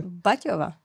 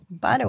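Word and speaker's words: Batawa: I would have said Batowa. Batowa was the town that Thomas Baťa Jr. Founded in Canada. Baťova. No. Batowa. Batowa. B-A-T-A-W-A. Like Ottawa, This is Batowa, right?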